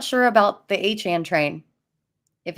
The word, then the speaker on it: Achane: I'll tell you what, it sounded a lot better when it was Achane train before he corrected everyone and made it Achane train. Yeah, now we got to rhyme with like what 4chan.